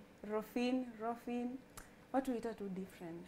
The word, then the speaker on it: Rophine: Darling, how do we pronounce that name? Rophine.